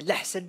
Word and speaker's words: Lahcen: Alors, comme l'a si bien prononcé Alban, moi, c'est Larcène.